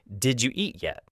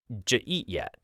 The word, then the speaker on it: did you eat yet: A classic example is, did you eat yet? Native speakers almost always say it like, j eat yet, or even just jeet yet.